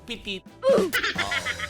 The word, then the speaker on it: Petite: Yung gusto ko, pitit. Yun talaga gusto ko. Hindi ka na nabasa ng petit lang yun. Pitit sa Tagalog yun. Bakit naging petit? Pitit yun. Yun talaga ang basa.